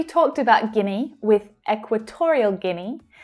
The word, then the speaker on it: Guinea: Now we've already talked about Guinea with Equatorial Guinea. So remember that you don't need to worry about all of the vowel letters here, okay? It's just pronounced Guinea, Guinea.